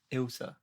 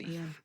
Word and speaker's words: Ilse: thank you very much Elsa I said it right yeah you did Ian it is funny when people call me Ian it's like where did you get that from I get Alysa sometimes Alysa people just adding